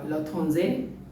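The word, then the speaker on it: L'Étranger: you can say uh la thonsei which is a french pronunciation latin say or the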